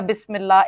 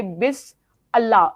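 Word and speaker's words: بسم الله: It says, if you read, even when you pronounce the Bismillah Rahman Rahim, you can hear we are not saying Allah. We are saying Bismillah Rahman. We don't say Bis Allah. No, nobody can say it.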